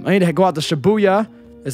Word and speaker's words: Shibuya: I need to go out to Shibuya, is how you pronounce it.